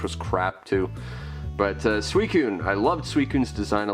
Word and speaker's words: Suicune: kid I I think I tried to pronounce it suicin because I didn't have any idea how to pronounce it also there's a